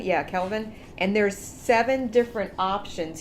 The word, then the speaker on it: Kelvin: measured on a temperature scale referred to as Kevin am i pronouncing that right Kelvin yeah Kelvin and there's seven different options here that they